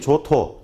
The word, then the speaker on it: 조토: 이미 요약 정리본에 그렇게 되어 있지만 화면 보시는 분들 때문에, 얘 제작격인 조토 발음 잘 하셔야 됩니다. 강하게 하시면 안 돼요.